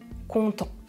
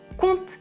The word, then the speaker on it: content: oui regardez les exemples dans la première phrase je prononce il est content parce qu'il est en vacances je prononce content dans la deuxième phrase je prononce ils content des histoires à leurs enfants avant de dormir dans la première phrase